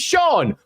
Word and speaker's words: Cian: We don't get a character called Sean and say, Cian. It's Cian. It looks like it's pronounced Cian. I'm going to call him Cian because he's called Cian. It says Cian in the book. No, his name's Sean.